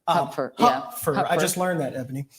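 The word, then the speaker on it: Hupfer: his actually name is actually pronounced Huffer Huffer I just learned that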